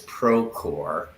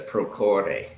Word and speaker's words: Procore: Now, the name of the company internationally is Procore, right? Yeah, Procore Technologies. But in Costa Rica, it's often referred to as Procore. Yes. Yeah, So but yeah, that's not really correct, right?